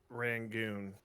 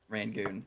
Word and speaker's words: Rangoon: Rangoon. Rangoon. Okay, like a mancoon.